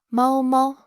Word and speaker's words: 猫猫: Mao Mao, Mao Mao. The first tone and then neutral.